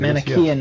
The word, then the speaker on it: Manichaean: You're discussing the manifestation of the Manichaean devil. Is that the correct way to pronounce that? I believe it Manichaean is, yes.